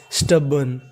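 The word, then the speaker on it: stubborn: और आपको इसमें याद रखना है कि आर का उच्चारण नहीं करना।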